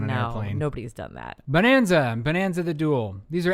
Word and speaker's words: Bohnanza: is it is that is it pronounced bone or is it bon no it's bone burn where's the umlaut all